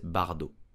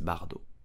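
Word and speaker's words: Bardot: it correctly in French you will simply say Bridget Bardo Brigitte Bardo the T at the end of Bardo is totally silent so you will say Bardo did you know that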